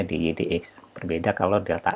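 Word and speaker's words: dy/dx: Ini tidak dibaca dy per dx karena ini bukan fungsi pembagian, tapi ini fungsi diferensial atau penurunan. Maka dibacanya dy dx.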